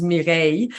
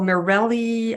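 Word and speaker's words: Mireille: lot of my friends one of which was mirei which is a really difficult name to pronounce in English so every time you would travel together they people would be like oh Morelli um you know now I'm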